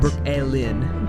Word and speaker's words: brookelen: We were talking about We were talking about Brooklyn and the spelling and the name. Um, cuz you go B R O O K E L E N, right? That's correct. Brooklyn, but spelled like the burrow, like Brooklyn Bridge.